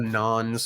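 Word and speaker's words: Nahn: And it's interesting to note it's spelled N-A-N, and the Nons of the Dark Eyes are N-A-H-N, but clearly they sound similar.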